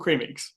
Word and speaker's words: Creme: what you know cremix they're called creamix c-r-e-m-e-x and um people are like how they pronounced how they pronounced so they so they on Twitter they messaged they tagged in Canberra UK and Cabra UK replied with they're pronounced cream and the internet lost